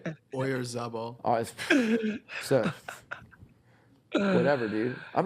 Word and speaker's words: Oyarzabal: Oyarzabal.